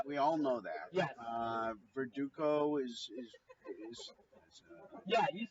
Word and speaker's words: Verdugo: Verdugo is Yeah, you said it right.